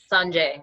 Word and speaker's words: Sanjay: you say your name oh Sanjay a West Tibetan pronunciation Sanjay okay where you from